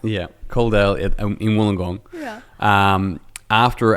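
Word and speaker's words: Coledale: Is that how you pronounce it? Coldale. Yeah. Coldale in Wllingong.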